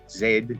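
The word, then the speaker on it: Zaid: person that wrote this his name isn't that easy to pronounce but it's zed z-a-i-d-k abdul-nur and if you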